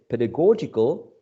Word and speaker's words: pedagogical: my mistake because um the word pedagogy pedagogy is stressed on the first syllable i am studying english pedagogy at ucl pedigree you are studying english pedagogy right now the adjective pedagogical is stressed on a different syllable right pedagogical pedagogical so